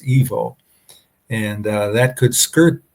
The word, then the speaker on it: Ivo: EVO, excuse me, IVO, but it's pronounced EVO.